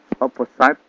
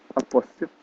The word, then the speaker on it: opposite: itu naik ke bawah opposite opposite opposit tulisannya bukan eh pelafalannya bukan opposite ya mohon diperhatikan opposite jadi bukan opposite cara lafalannya opposite on to nah onu